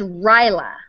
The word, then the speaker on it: Rajala: Rahala. Rahala. She says Rahala. Rahala. If it could be Indian, and Rajala. Rajala. Well, I thought it was like Rahala, but it's Ryla.